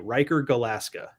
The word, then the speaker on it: Riker Galaska: Riker Galaska. Rhymes with Alaska.